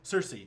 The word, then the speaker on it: Cerise: Cersei. She's another. It's spelled differently, but it's Lilandra's sister from the Shi'ar.